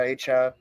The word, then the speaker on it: Achane: That's how you pronounce it now, Achane.